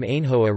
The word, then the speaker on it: Ainhoa: Hence, Icurinha can also be written Icurina without changing the sound, whereas the proper name Ainhoa requires the mute H to break the palatalization of the N.